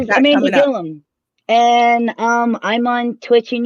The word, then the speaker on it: Gillum: It's Amanda Gillum. Gillum spelled like William, but with a G instead of a W.